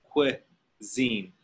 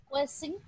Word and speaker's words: cuisine: Cuisine. Cuisine. Cuisine. Cuisine. It looks kind of like qua. Qua. Zine. Cuisine. Cuisine.